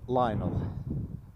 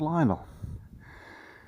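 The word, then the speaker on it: Lional: Yeah, Lionel. That's how it's spelt, and it's how it's said, spoken, pronounced. And over there is Lionel, and then beyond it, can you see that lighthouse?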